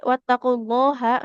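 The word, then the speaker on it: واتقوا الله: Wattaqulaha H-nya enggak boleh panjang.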